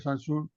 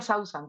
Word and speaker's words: Sausan: Sí, bueno, mi nombre se pronuncia Sausan, tal y como se escribe.